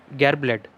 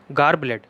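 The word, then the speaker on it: garbled: To express in a unclear वे, गार्बलेड, ठीक है। इसका जो एक्चुअल प्रोनाउंसिएशन होगा वो क्या होगा, गार्बलेड। ओके, आप इसको गार ब्लैडर से मत कंपेयर करिएगा, ठीक है। इसको बोलेंगे हम गार ब्लड, ठीक है।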